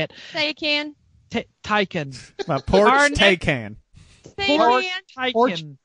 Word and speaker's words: Taycan: So does it or does it not rhyme with the nut from South Carolina that they make the pies out of? Pecan.